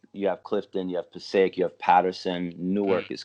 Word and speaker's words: Passaic: Passaic, is that how you pronounce I it? was I was born in Passaic, but I grew up.